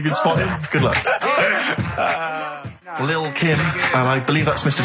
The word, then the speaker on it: Lil Kim: Now, Steve, I see there it's a track by Little Kim, but how are you pronouncing it? I'm pronouncing that correctly. Lil Kim. Oh, no T's involved.